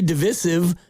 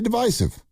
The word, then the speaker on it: divisive: I like the way you say divisive. It's either one. Divisive.